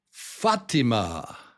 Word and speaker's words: Fatima: Fatima. Fatima. I hope I'm pronouncing this correctly. I think I am. Fa. So it's Fatima. Fatima. Fatima. Fatima. It's not Fatima.